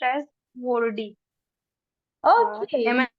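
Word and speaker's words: որդի: And the next one is son. So we can pronounce it as a wordy. Vorti, right.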